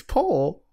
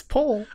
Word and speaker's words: poll: whole situation appalling but did you know how you pronounce that it's poison it's pole this pole hole it's a pole like let me take